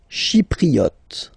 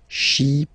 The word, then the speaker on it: Chypriote: Chypriote. She, remember this Y is pronounced like I, okay? Chypriote. Chypriote. Okay?